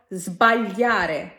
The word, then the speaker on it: sbagliare: এছাড়াও এসে যখন তার সামনে এই কয়েকটি কনসোনান্টে থাকবে তখনও সেটাকে জ করে উচ্চারণ করতে হয়, যেমন sbagliare, sdraiare, smentire।